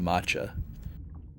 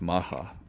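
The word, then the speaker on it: Macha: to B7, we encounter I like calling it matcha. Uh but apparently it's maha. That's how they say it in the anime in the Japanese track and that's how Kite just said it in the English dub.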